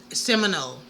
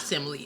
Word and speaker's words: Seminole: Seminole, not simile. I keep saying simile.